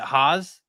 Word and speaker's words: Haas: Is it Haas? Am I pronouncing that correct? That's perfect.